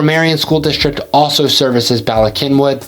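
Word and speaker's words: Bala Cynwyd: let's talk about balak kinwood and yes it's pronounced balak kinwood not balis kin wi or winding or anything like like that Bak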